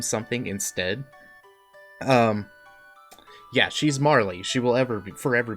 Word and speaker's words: Marle: not what you think I always called her Marley because that's how she was called to me first so I think in moral yeah I think in in traditional uh Japanese and like the when you translate the original text or whatnot it's pronounced it moral but I don't care